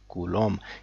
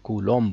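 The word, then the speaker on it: Coulomb: डी ऐसे ही unit of electric charge इस कोलों यानी की चार्जेस को चार्जेस की यूनिट को हम कोलों बोलते हैं इसकी स्पेलिंग है सी ओ यू एल ओ एम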